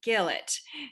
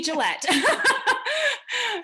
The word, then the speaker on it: Gillette: next speaker is gillet now she did I say it right Gillette okay Gillette totally said they're wrong